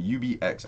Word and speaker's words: UBX: and here we go uvics excuse me ubx i always want to say ubix because that's the way it's spelt but uh we can't